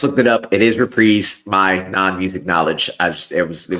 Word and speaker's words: Reprise: It is Reprise. My non-music knowledge, it was bothering me. Don't worry about it. It's okay. Sometimes we just put the emphasis on the wrong syllable.